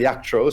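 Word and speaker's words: Jactroll: Apparently, his name isn't pronounced Jack Troll, but Yak Troll. So I'm going to stick with this Polish pronunciation over here, because we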